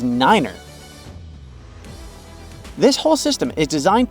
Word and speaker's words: nine: five is f and nine is Niner this whole system is